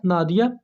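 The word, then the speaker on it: Nadja: freedom of love दोस्तों ये जो वर्ड है नादिया इसमें जो जे साउंड है इसको वाय की तरह पढ़ा जाएगा जिससे यह प्रोनाउंस होगा नादिया अब दूसरे जो राइटर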